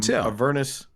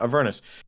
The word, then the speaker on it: Avernus: in everness here we or is it a vernis because i've heard it pronounced both ways avernus yeah avernus so we were here